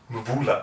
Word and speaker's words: Mvula: I believe it's didn't- pronounced Mvula.